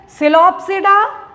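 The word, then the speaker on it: Psilopsida: सिलोप्सिडा, लाइकोप्सिडा, स्फेनोप्सिडा एंड टेरोप्सिडा। ठीक, P silent रहता है, आप देख रहे होंगे हर जगह पी साइलेंट है।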